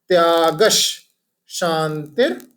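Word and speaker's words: त्यागश्शान्तिः: जो ग के बाद में विसर्ग है और उसके बाद श आ गया है, राइट। इसलिए हमारा जो प्रोनाउंसिएशन है वो ऐसा हो जाएगा, त्यागश शांतिर पैशुनम।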